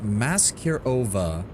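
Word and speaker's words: Maskirovka: It's pronounced Maserova.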